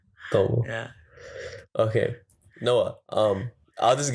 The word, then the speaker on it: Tamil: He didn't say Tamil. He said Tamil.